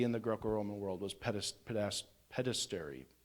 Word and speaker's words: pederasty: of homosexual activity in the Greco-Roman world was pederasty. Pederasty, that's how you pronounce it.